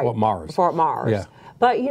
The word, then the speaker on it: Myers: It's spelt Myers. It's pronounced Mars. Right. Fort Mars.